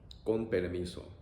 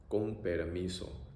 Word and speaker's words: con permiso: Con permiso. Con permiso.